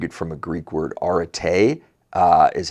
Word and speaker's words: arete: so, I took it from a Greek word, arete, is how that's pronounced, and that's where Aretec came from, but